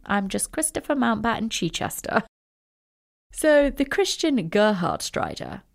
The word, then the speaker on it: Chichester: name Christopher decided to go with was Christopher Chichester which is the correct way to pronounce it but he being a German pronounced it incorrectly and called himself Christopher Chi Chester yeah no one's has gestures like that literally